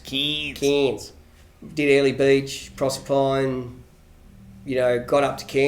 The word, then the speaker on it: Cairns: up through the cairns i believe it's pronounced kings did early beach proserpine